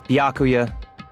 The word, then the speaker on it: Byakuya: By it's Byakuya. Yeah. I I don't know how to mispronounce a misspelled name when it's already Japanese.